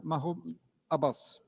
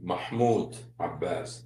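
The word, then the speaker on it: Mahmoud Abbas: I would also like to salute the president of the state of Palestine, Mah Abbas. I find it he didn't know how to say his name, Mahmud Abbas.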